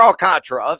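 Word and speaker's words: Alcántara: often and that is Sandy Alcantara or alcatra if you prefer the pronunciation there uh I think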